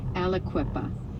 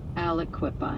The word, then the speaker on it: Aliquippa: It's pronounced Alequipa, so it's kind of like three syllables. Alequipa.